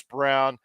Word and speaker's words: Braun: You know, they've got Bruce Brown, Christian Braun, who's been playing some, or Christian Brown. It's spelled Braun, but it's actually Braun.